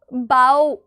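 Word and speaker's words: bow: कौन सा होता है, एक बो वो वाला बो होता है जिसे आप बोलते हो बाओ के प्रोनाउंसिएशन के साथ, जिसका मतलब होता है झुकना किसी के आगे, ठीक है।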